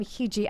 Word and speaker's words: Hiji: am so sorry um hiji I I still love that name it's a great say like Fiji that way that's smart that is